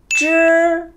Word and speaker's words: zhi: Âm bên dưới là zhi. Có H mà chúng ta cong lưỡi lên đấy đúng không ạ?